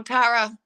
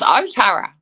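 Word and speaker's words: Ōtara: mangeri angry bridge or tara if i pronounce those names the right way that my cousins would think i was rude talking to them like that it's otara so and um what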